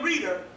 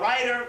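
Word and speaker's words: Reiter: But Reeder is R-E-I-T-E-R, Reeder, or writer, Reeder, I guess, I don't know. You know, I read it like it says in Africa, Reeder. The white boy say W, the E is silent, so that would be writer.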